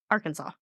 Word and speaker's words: Arkansas: Kansas Colorado and Oklahoma it's called the Arkansas like how we see the state I don't like that